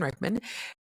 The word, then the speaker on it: Reman: Hello, my name is Reman, and I tend to tell people that it rhymes with a specimen, but with a J.